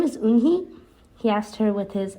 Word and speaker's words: Unhei: turned to joey she nodded slowly yes it's pronounced yunke and it means grace mr kim added yoon hey joey said slowly and this time perfectly it